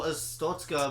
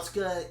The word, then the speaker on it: Arstotzka: Yeah, it's a And misnomer, Arstotzka, even in like with Russian pronunciation, still sounds like big, threatening, oppressive, which this is supposed to be. Yeah. Arstotzka has a punch in the middle. It's powerful.